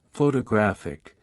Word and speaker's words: photographic: on the first syllable while in photographic the stress shifts to the third syllable in addition to stress